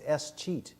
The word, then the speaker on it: escheat: It's called escheat. And it's kind of the way you spell it. It's like it's escheat, so like escheat.